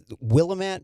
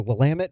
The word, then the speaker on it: Willamette: of the state of oregon in the uh willamette valley here i'm sorry that's a joke it's the willamette valley in oregon i'm sorry i just it's